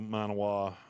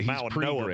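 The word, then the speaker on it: Mauigoa: It's actually pronounced Malinoa, but I can't make my mouth do that.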